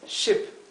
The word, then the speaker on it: ship: Barco es ship, una i bien cortita. Lamb es cordero, y fíjense que se pronuncia la B del final.